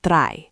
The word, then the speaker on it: drei: Three is drei, three. Again, I like I, drei.